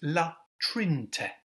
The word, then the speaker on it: La Trinité: So for example, in La Trinte, see I nearly made the mistake there, we don't pronounce the middle E, so it's La Trinte.